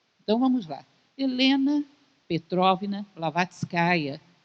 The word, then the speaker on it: Blavatskaya: Helena Petrovna Blavatskaya, é uma característica do russo, os nomes têm feminino, então o correto seria que o nome dela fosse pronunciado assim.